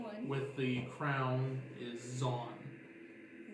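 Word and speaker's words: Zaun: with the crown is Zon. Z-O-N? Z-A-U-N. Yeah, it's not. Okay. Rhymes with blonde.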